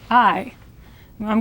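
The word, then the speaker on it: hay: h a y but the H is silent and the a y is like the I of I or I I I'm going to write it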